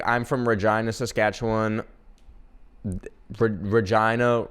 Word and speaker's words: Regina: Regina rhymes with fun. Get it? Cuz Regina rhymes with vagina.